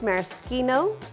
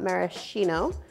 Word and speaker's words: maraschino: milliliters of a maraschino liqueur and it is pronounced maraschino not maraschino because in italian ch is pronounced and a